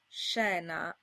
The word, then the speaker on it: scena: Before an I or an E, this combination is pronounced sh, as in scena.